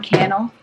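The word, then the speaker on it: Cannell: I watch on YouTube Sean canel rhymes with YouTube channel and he suggested that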